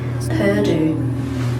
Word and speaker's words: Purdue: I want to say Purdue, like hairdo.